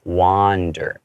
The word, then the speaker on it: wander: You open up the space in your mouth with a ah sound, like it's more wander.